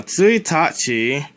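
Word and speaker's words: 一日: It's pronounced tsuitachi when the 1 is in front of the symbol for day, even though neither of these symbols have these pronunciations.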